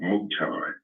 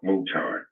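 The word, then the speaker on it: Mouton: Have you ever heard of Mount Mutan?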